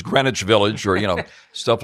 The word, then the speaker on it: Greenwich Village: You know it's not Green Witch Village Frank it's Greenwich Village or you know stuff like that you're instantly corrected.